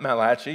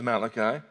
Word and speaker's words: Malachi: me at one time that it was not mulashi it was Malachi but I don't think it really matters how you pronounce it and this is a word from